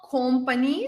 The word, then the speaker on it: company: next one is company so it's not company so we don't say company we say company company this is like an short like a sound company company uh now I'm pretty